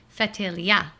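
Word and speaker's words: Ftelia: You need the heavier accent on the last syllable. Go ahead. Now do it. Fatilia.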